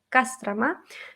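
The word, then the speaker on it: Кострома: publicidad de kostromá a kostromá se escribe y ahí se escribe con o sin kostromá pero dice dice casas trama y kamchatka se escribe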